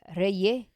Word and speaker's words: Reyes: And Reyes, that's how they say it, Puerto Ricans.